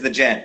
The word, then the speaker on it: The Gent: So first of all, I think I'm pronouncing your DJ name wrong. Shonda's correcting me. Your current DJ name is the Gent, correct?